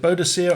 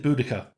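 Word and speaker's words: Boudica: from bodia witches yep now is it bodia or is it buddika oh they've used the bodia pronunciation yeah I personally prefer budaa so do I bodia is from the romanticized era of the Victorian reinvention of a lot of the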